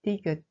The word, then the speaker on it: ㄷ: The third simple consonant is 디귿. We write it first, the horizontal line above, from left to right, then the rest is like 니은, all at once. It is pronounced d, like deer in English.